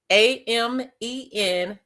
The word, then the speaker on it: Amen Ra: AMEN-RA. It is pronounced Amen Ra.